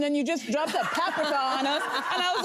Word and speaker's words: paprika: A Hungarian woman during the Caftans Live said it's, by the way, it's paprika. In most Hungarian words, the emphasis is on the first syllable.